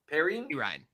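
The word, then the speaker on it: Perine: Pirine.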